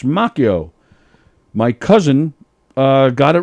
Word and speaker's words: Macchio: before the beach kristen christian macchio yeah not machio ralph has it wrong